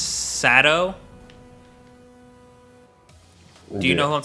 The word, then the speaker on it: Saito: __ ] but saito his name is spelled saito but they pronounce his sato do you know who